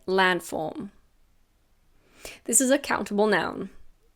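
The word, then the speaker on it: landform: I didn't say say land form when we say it naturally we almost don't pronounce the d we say land form this is a countable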